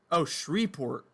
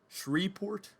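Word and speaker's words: Shreveport: that in a while oshri port it doesn't it the V is silent I did make a fool of myself who would have thought though shree port are you kidding me uh let's see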